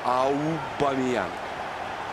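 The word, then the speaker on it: Aubameyang: Это Пьер Америк Абамиян. Ну или, как говорил Равшан Бабаев, Аубамиян. Так правильно произносить, но трудновато, а? Поэтому по привычке Абамиян.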